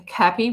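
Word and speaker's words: Kappy: his name out loud it's like sounds like he's happy isaac happy but it's isaac and then cappy with k a p p y and i don't know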